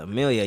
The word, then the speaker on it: Amelia: Amelia, yeah, thank you. I said it wrong at first, but Amelia, All yeah.